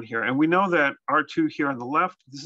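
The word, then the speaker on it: ℝ²: caught on but that's what it is so r2 okay so we want to think about what the actual function is going on here and we know that r2 here on the left this is actually a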